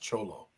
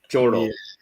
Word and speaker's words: cholo: F first of all, it's pronounced cholo. Cholo.